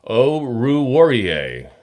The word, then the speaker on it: Oruwariye: Oruwariye. I got to say it so slow to say it right.